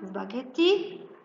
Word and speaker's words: spaghetti: Number two, spaghetti. Yes, let's match spaghetti with letter H and write the word spaghetti. Number three, half.